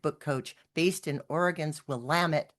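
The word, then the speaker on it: Willamette: Aaron Radniki is a nature enthusiast and author accelerator certified book coach based in Oregon's Will Lamit rhymes with damn it valley.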